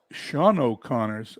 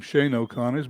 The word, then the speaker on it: Sean O'Connor: batting second batting thirds Sean O'Connors I would have called him Shane O'Connor's but I was reading today and it's Sean O'Connor's is the pronunciation of that he is batting third